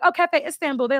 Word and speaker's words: Istanbul: I'm like, "Oh, Cafe Istanbul." They're like, "Oh, Instable."